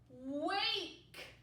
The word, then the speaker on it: wake: Wake. A, wake. Because the silent E makes the vowel say its name.